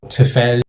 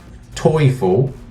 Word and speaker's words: Teufel: as well i've heard people call it a turf or tiffany or something like that but really it's pronounced toyful in german toyful and yo my friend are